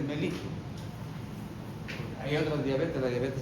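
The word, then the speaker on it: mellitus: Aunque suene paisano, pero así se pronuncia. Diabetes melitus.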